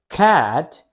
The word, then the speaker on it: cat: kite kite kite kite now for the word cat you only have the short vowel sound ah it's not a diphthong you pronounce it by opening your mouth like you're biting a sandwich again you need to open your mouth wide let's practice together ah